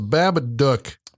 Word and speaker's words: Babadook: About our episode, the Babadook. Babadook. Babadook. Duck rhymes with book.